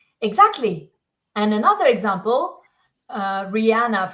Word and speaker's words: Rihanna: and another example uh Rihanna from umbrella that a sound is right there in the first syllable Rihanna it's subtle but important okay have we got